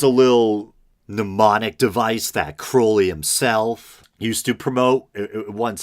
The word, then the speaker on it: Crowley: a version of it it is pronounced Crowley to remind you that I am holy but my enemies say Crowley and wish to treat me Fowley and I think I